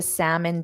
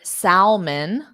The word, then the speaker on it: salmon: they actually pronounce so they pronounce the L and say s and then they also pronounce the vowel sound and say it more like M so there are two issues here we have a a silent letter the L does not exist so exactly like Abhishek said it's just not there in spelling but then also the m o n the vowel sound o is an unstressed sound so